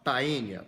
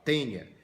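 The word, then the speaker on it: Taenia: de porco duas observações primeiro escreve tainha mas a pronúncia do em latim é é então você não fala tainha você fala tenha assim como o mosquito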